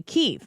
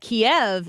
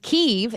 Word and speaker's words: Kyiv: when Russia invaded them, that Kiev is the Russian pronunciation of that town, and Kyiv is the Ukrainian pronunciation of the town.